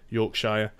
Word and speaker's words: Yorkshire: yorkshire yorkshire York Shire depending on what part of the UK you probably say it slightly differently and I I'm from the sort of the middle area of the country so we tend to say Shearer for some reason so it'll be like Yorkshire Derbyshire Lancashire we don't say